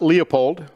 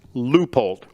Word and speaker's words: Leupold: leupold scopes loopholed optics it's not leopold it's leupold okay that's just that's